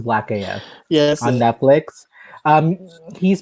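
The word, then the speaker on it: #blackAF: they actually play the whole thing no it's black af black af okay no i i read it last and i was like i i think it's black af yes on netflix um he's been featured in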